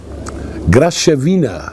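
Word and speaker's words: Graševina: Guck mal hier, hier gibt es einen Grasevina, Graschevina wird da genau ausgesprochen.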